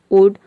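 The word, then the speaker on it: would: यहाँ पे हम एल को प्रोनाउंस नहीं करते हैं, केवल डी को प्रोनाउंस करते हैं, शूट, वुड, कुड।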